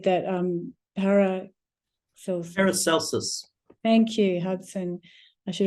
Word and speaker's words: Paracelsus: And I should know how to pronounce the name of the man who said that, Paracelsus.